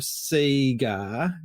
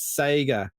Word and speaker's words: Sega: you're gonna have to excuse my pronunciation of Seger because that's how we need to pronounce it in Australia I can't get behind this Sega pronunciation I'll talk to